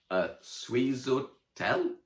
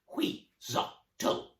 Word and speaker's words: Huitzotl: Sweezotel? "Nearly," smiled the witch. "It's pronounced Huitzotl."